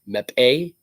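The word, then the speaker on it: Mbappé: France got the goals from Adrian Rabiot, Oliver Giroud, Kalen Mbappe. I actually said that name right because I actually heard that's how you pronounce that name.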